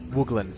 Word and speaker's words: Wooglin: have passed since my encounter with the Curious wugan tribe is that how you pronounce it wugan wugan thank you and I find myself mesmerized